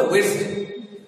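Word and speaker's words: Wednesday: হতে পারে যেমন ধরো ওয়েডনেসডে এটাকে ওয়েডনেসডে আমরা বলি বলে উচ্চারণ হবে ওয়েডসডে ওয়েডসডে বা থার্সডে বা স্যাটারডে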